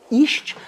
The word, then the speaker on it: Esch: I'm talking about Isht. I hope I'm pronouncing that well. It's spelled E S C H from Nishme in the Netherlands.